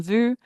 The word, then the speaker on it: vus: say nous nous sommes vus, they don't know whether you put an imaginary silent S on the end of that word in your head. They don't know. The S is silent, okay?